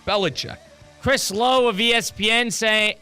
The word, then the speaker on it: Belichick: Belichick.